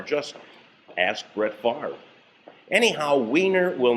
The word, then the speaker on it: Weiner: He could have just as easily said that his name is pronounced Werner or Winner or Weiner. It's been done before. Just ask Brett Favre. Anyhow, Weiner will not go away.